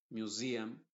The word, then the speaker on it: museum: S más otra vocal, la S se pronuncia con una Z que yo le llamo la Z inglesa, que lo vamos a ver después. Se va a decir cousin, museum, poison.